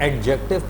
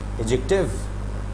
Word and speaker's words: adjective: जैसे यहाँ पर एडजेक्टिव पढ़ना सही नहीं है, The right pronunciation of this word is adjective.